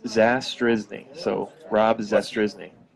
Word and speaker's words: Zastryzny: so I completely understand it's zas drizzling so Rob disaster is